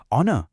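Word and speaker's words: honour: ऑनर इसमें H silent होता है। इसका साउंड ओ से शुरू होता है जो कि एक वोवेल साउंड है।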